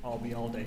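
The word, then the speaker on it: Ayalde: was that you uh remember the phrase I'll be here all day and drop it here I'll be all day you got it and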